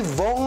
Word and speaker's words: Vhong: Hashtag rhymes with wrong naman ang makahulugang caption ni Denise na kanyang shared post. Tila patama niya ito sa pangalan ni Vong Navarro na katunog ng salitang wrong.